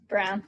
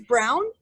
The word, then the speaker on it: Braun: Braun that's always say Brown yeah brah it's brown it is yeah it's pronounced brown it's German everyone says it brawn no worries that's who